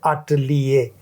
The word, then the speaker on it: atelier: जुड़ गो आर्टिस्ट हूँ, और बी की जो स्पेलिंग है वो है ATELIER, तो बा हो जावे आटलिए।